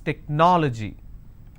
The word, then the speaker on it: technology: This is the ending. So I leave one, then I go to the next, and I pronounce this as technology.